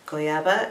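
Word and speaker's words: goiaba: as reading the handwritten thing so it's g-o-i-a-b-a goyaba is the name of the color this really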